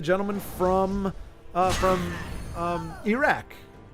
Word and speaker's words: Iraq: from uh from um Iraq and that is by the way how you pronounce it that's straight from somebody who lives there and uh he he has